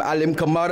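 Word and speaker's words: Alim Kamara: See that way you remember the rhyme. Alim kamar. I'm leaning on the camera.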